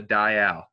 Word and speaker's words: dial: got right here it's called a dayal just like a dial only other thing to